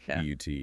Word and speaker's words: put: P U T and P U T T. They do look similar, but the mechanics are entirely different. Put, like put the book down, uses a short U sound.